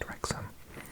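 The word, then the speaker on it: Wrexham: have Alexa now technically a doubling Welch is pronounced oh but I've never ever said or exam I'm pretty sure it's just rexham because the custom anyway I think for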